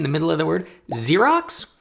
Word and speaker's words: Xerox: middle of the word Xerox with two x's and they're pronounced differently one pronounced like a